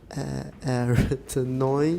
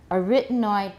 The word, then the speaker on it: arytenoid: My dictionary has a stress on the third syllable. Arytenoid. Arytenoid. Huh? Arytenoid. They're wrong. They're wrong. They're wrong. I've heard these talked about in many 影片. And what I've heard is arytenoid.